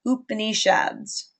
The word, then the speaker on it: Upanishads: And this period and these new texts are called Upanishads. I've also heard that pronounced Upanishads.